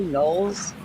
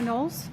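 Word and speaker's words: Knowles: Nolles.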